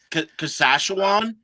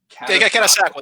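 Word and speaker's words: Catasauqua: Kasashawan? Yeah. Katasakwa? Katasakwa, there we go.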